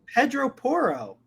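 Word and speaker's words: Pedro Porro: signed Pedro porra what how do you pronounce what is it just say Pedro poro why did you like why'd you make it like a little bit iffy what do you mean Pedro Para no just say it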